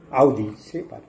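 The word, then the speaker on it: aude sapere: দুটি শব্দ, জার্মান শব্দ, আউডি সেপার, আসল উচ্চারণ আউডি সেপার।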